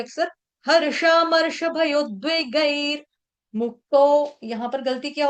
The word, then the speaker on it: भयोद्वेगैर: भयोर्द्वेगैर ऐसा उच्चारण गलत है, और यहाँ पर भयोर नहीं है, भयोद्वेगैर, और द्वई बोल देते हैं, द्वई, द्वई नहीं है, द्वे है, द्वे द्वे।